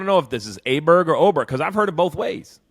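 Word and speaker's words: Åberg: He'll be like, well, it was Oberg, but Jim says Aberg, so we're going to be Aberg now.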